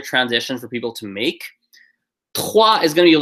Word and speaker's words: trois: Second word you should do is let's do trois. Just pronounced T-R-A or W-O, sorry. No, this is W-A.